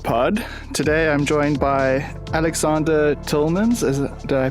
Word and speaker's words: Alexander Tilmans: episode of art pod today I'm joined by Aleksandr Tolman's as I pronounced that correctly yes that's correct great I